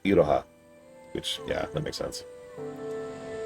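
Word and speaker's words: Iroha: apprentice from the future, which I actually looked up is apparently pronounced Idoha, which yeah, that makes sense.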